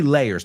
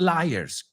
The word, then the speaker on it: layers: How many layers? Not liars. Cuidado, he oído mucha gente pronunciar esta palabra capa, liar. No, liar, mentiroso. Lay viene del verbo to lay.